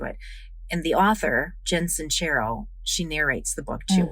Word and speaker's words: Sincero: How to Stop Doubting Your Greatness and Start Living an Awesome Life by Jen Sincero.